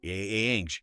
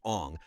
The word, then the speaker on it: Aang: Whitewashed Asian characters, mispronounced the main character's name, Aang, not Ong, for the entire runtime.